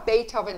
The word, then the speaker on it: Beethoven: written by anne recklin notice how beethoven is spelled before we begin b e b-e-e-t-h-o-v-e-n but we say beethoven it was unusually quiet